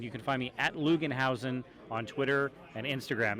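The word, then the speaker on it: Loogenhausen: can find me at lugenhausen on Twitter and Instagram it's l-o-o-g-e-n-h-a-u-s-e-n it's spelled exactly like it sounds lugenhausen and if you say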